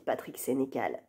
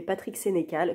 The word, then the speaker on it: Patrick Sénécal: sa librairie, elle avait dit, l'année prochaine, j'invite Patrick Sénécal.